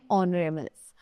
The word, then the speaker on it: honorable: So this is, यहाँ पर जो दिया हुआ है ये yellow box, H is silent in honorables. The word begins with the vowel sound of O, that means O, right?